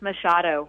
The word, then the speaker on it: Machado: There's several ways to pronounce your last name, There is. right? It's Machado. It's the But Portuguese you say pronunciation, Machado, right? Machado. Yes, Machado.